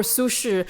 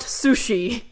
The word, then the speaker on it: Su Shi: song dynasty poet sudonpo or sushu not pronounced sushi it's basically about how